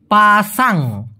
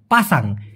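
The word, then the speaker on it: pasang: সঠিক উচ্চারণটা হবে পাসাং পাসাং এবং এই মালয়েশিয়ান ভাষার এই শব্দটি দিয়ে অনেক কিছু বোঝানো যেতে পারে।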